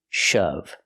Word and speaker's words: shove: push something hard shove pronunciation use the short H sound like cup and up shove example the boy shoved